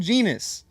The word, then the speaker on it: genus: You were given the choice of a much better snake, the water python, same genus. Genus but it rhymes with swims.